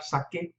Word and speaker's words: saque: That's to maintain the sound. Sacar, saque, just to maintain that hard C sound.